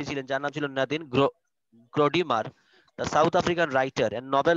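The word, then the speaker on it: Gordimer: ভালো একজন রাইটার ছিলেন স্যার এটা নাদিম গর্ডিমার না জর্ডিমার হবে গর্ডিমারই বলি আমরা গর্ডিমার উচ্চারণটা কি হবে স্যার নাদিম গর্ডিমার নাদিম গর্ডিমার তিনি বলছিলেন যে এই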